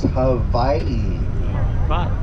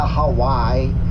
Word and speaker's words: Hawaii: only 13 letters, and when you have a W in any Hawaiian word that's not the first letter of that word, it is pronounced like a V, like Victor.